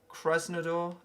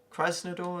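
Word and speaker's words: Krasnodar: just caressing the door Kresna door I believe is how you pronounce it Christ no door there we go so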